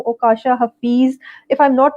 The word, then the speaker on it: Okasha: ओकाशा Hafeez, if आई एम not wrong मैं आपका नाम सही प्रोनाउंस कर रही हूँ। ओकाशा, इट्स ओकाशा।